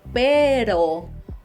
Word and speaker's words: pero: But if you say pero with the soft R, it means but.